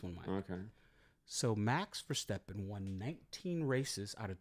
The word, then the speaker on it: Verstappen: His name is Verstappen.